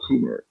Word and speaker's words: Kummer: Well, we We got also a number of people joining us, and Michael Kummer. Is that how you pronounce it, Michael? That's how I pronounce it, yes.